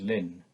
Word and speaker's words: ln: denote this by Ln which is pronounced simply as Lin we know from the